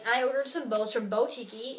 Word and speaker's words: BowTikii: ordered some bows from botiky it's spelled bo so b-o-w then tiki t-i-k-i-i there's two eyes at the end of tiki and this girly blog